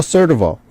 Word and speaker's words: Surdoval: and Underwriters or USM today we have certival did I pronounce it right you did all right oh